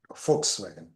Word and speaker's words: Volkswagen: that's the reason folks it is pronounced like folks it it's a car for the common man folks common folks that's how you pronounce you pronounced oaks folkswagen folks common man but